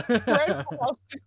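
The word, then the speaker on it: Fred Fuchs: It's like you know Fred Fox, right? I've heard of Fred Fox. That's that AVGN bit. Yeah. It's like spelled like that, FUCHS. Yeah. Fred Fox.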